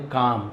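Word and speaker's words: calm: Past simple tense अफरमेटिव sentence दिया, खाया, पिया ऐसे एल साइलेंट है। काल में नहीं बोलेंगे काम।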